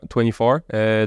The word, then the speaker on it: Twenifor: Absolument, 24. Donc, ça s'écrit TWENIFOR, donc ça se prononce un peu différemment.